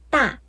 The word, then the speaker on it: 大: 语里面的发音呢是大大，那大家就可以想象成韩语里面的大大，怎么样？四声大，韩语里面的大一样